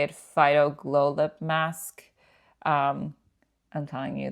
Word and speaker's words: Phyto Glow: This is how you say it, Phyto Glow Lip Mask.